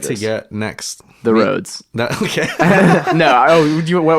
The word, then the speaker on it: Rhodes: out rhodes the new the new it's rhodes roads and check out the caller tell us what